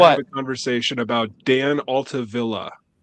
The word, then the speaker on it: Altavilla: He He is not Hispanic. It's not Via. It's Villa.